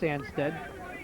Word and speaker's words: Anstead: John Anstead, it is pronounced Anstead, like a D at the end, as you can see